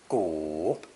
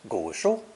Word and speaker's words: 古: It's pronounced third tone, 古, 古. Two easy phrases are ancient books, 古书, and ancient people, 古人.